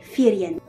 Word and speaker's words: Firien: devrait être ce mot, qui doit se prononcer Firien.